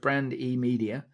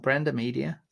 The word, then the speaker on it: Brand E Media: So Brandy is founder of Brand E Media. You see what she did there? It's not Branda Media. Brand E. Brandy.